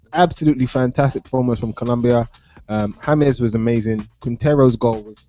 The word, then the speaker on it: James: Yes, and it is James, not James. No, I have to point out it is James. James. Spelled James, pronounced James.